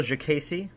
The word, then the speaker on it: Diakiese: the UFC, the very talented Marc Bone Crusher Diakiese. Did I say it right, Phil? Diakiese?